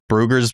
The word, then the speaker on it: Bruegger's: Let me tell you, Bruegger's bagels, I believe that's how you say it.